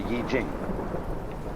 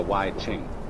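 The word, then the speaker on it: 易經: the Book of Changes, called the Yi Jing, not the Wai Ching.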